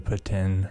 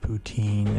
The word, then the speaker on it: poutine: I mean, I guess our most cliche, classic Canadian snack would be the poutine or poutine, if you want to say it like you're from the east side of Canada or west side.